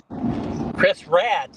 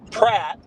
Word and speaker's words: Pratt: Got to pronounce it right. It it is crisp rat crisp rat. Chris Rat. No, here here. Let me I'll put it in the chat. I said Pratt P R.